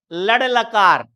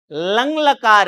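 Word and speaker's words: लङ्: बच्चे अशुद्ध बोलते हैं, लड़ लकार, लड़ लकार नहीं है, लंग लकार है ये, जिसे हिंदी में कहते हैं भूतकाल, लंग लकार है।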